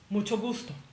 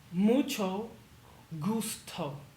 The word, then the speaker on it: mucho gusto: Mucho gusto. Pretend it's spelled like this. Mucho gusto.